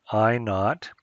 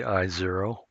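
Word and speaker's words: I₀: minimum sound level again I not this is pronounced I not or you can say I 0 it's left is i0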